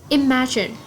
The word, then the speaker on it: imagine: Imagine. Imagine straight on the second syllable, and it is a verb.